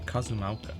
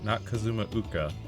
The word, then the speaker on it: Cozumauca: Cozumauca, not Kazumauka.